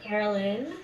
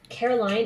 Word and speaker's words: Caroline: Like I named Carolyn. Well, it's spelled Caroline, and so I don't have an issue correcting to Carolyn. But the difference is it really, Caroline, it hits me. It's very sharp. It doesn't resonate with me at all.